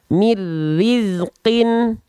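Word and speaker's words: من رزق: Bang Oh berarti betul cara bacanya tanpa ditahan tanpa disertai dengung ah maka kita baca mirizqin mirizqin Nah jadi Nun sukunnya lebur dia ke huruf ro yaah tinggal kita praktikkan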